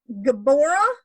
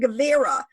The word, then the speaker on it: Gevurah: out of the way, Geburah and Gevurah pronunciations, and it really has to do with the Vav. Is it a V or is it a B? This is all, so Geburah